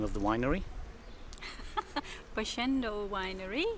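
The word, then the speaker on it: Boschendal: My wife will now pronounce the name of the winery. Boschendel Winery.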